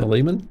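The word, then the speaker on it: Philemon: book of Fon Fon fomon how do you pronounce that fiman fiman yes that the book of fiman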